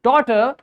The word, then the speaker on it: daughter: We when we pronounce this word daughter, there's no sound of g and h in it.